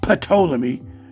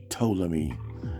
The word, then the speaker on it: Ptolemy: It's not Ptolemy, it's simply Ptolemy. The P is silent.